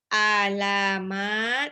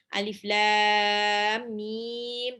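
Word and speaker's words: الم: Huruf muqatta'ah adalah huruf yang dibaca sebagaimana nama hurufnya. Jadi, bacanya bukan alamat, tapi alif lam mim.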